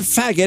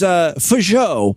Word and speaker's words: Faggot: No, it's not faggot, it's Fajot. It's fucking French.